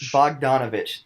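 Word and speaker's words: Bogdanović: really don't know how to say his name Bogdanovic Bogdanovich thank you from the Nets that's going to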